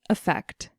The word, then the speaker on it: effect: And finally, effect. With this word, we hear the stress on the last syllable.